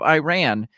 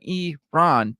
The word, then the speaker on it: Iran: corrected Adam's pronunciation of Iran um Adams had said I ran rather than e Ron before asking him about